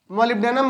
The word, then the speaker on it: molybdenum: उसके बाद Mb, इसको हम मोलिब्डेनम बोलते हैं, MOLYBDENUM, मोलिब्डेनम।